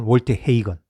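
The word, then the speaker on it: Walter Hagen: 그 메이저 승수에서 잭 니클라우스 18승, 그리고 타이거 우즈 15승의 다음으로 많은 메이저 12승의 월터 하겐입니다. 또는 월터 헤이건, 미국식 발음하면 이제 우승했고요.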